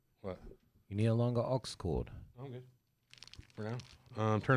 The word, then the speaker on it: aux cord: You need a longer aux cord. I'm good. For now. Turn up the phone. Aux cord rhymes with Oxford.